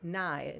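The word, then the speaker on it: ναί: be a no so nay in greek or nai the in the pronunciation that we uh we have assigned for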